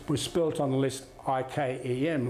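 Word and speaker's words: Yquem: y q u e m a chem d is silent chem was was built on the list ikem like ikea so when i looked at elizabeth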